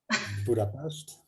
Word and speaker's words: Budapest: Budapest. That's yes, the way we say it. Yes, but with the S, the fricative there was special.